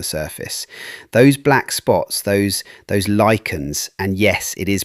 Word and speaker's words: lichens: Those black spots, those lichens, and yes, it is pronounced lichens, let us get that right from the start, they are actually eating the stone.